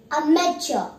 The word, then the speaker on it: amateur: Our word is amateur, spelled as A-M-A-T-E-U-R. Amateur. The IPA pronunciation of this word is amateur. This is a 3-syllable word.